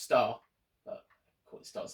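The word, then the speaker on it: Starz: run that showtime again star zed sorry it's pronounced star but of course it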